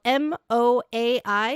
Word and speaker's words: MOAI: It is called MOAI. It is a cross-platform C++/LUA engine. Yeah, it's Moe.